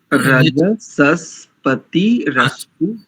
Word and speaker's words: रजसस्पतिरस्तु: पहले ठीक बोला था, रजसस्पतिरस्तु जिष्णु। रजस्पतिरस्तु जिष्णु, रजस्पतिरस्तु जिष्णु। तो सही, स्वयं से अभ्यास करते रहोगे तो त्रुटियां करते रहेंगे, और अशुद्ध उच्चारण कर लोगे तो शुद्ध करना महाभारत हो जाता है। जी जी। पदों से तोड़ो, रज सस पति रस्तु, ऐसे करेंगे।